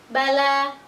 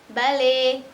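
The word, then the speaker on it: بَلَى: Mata, mate, asa, ase, bala, bale.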